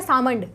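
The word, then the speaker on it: Salmond: होता है हमारा देखिए कोई कोई बोलता है सालमंड कोई बोलता है सावंड एल साइलेंट रहता है एल साइलेंट नहीं भी होता है तो आप कुछ भी प्रोनाउंस कर सकते हो सालमंड बोलिए या फिर सामन बोलिए बात देखिए डिफरेंस नहीं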